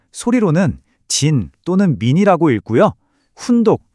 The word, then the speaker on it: じん: 음독 즉 소리로는 진 또는 민이라고 읽고요. 훈독 즉 뜻으로는 히토라고 읽습니다. 자, 그럼 국적을 말할 때는이 중에서 과연 뭘 써야 할까요? 오늘 우리가 집중할 발음은 딱 하나. 바로 음독인 진입니다.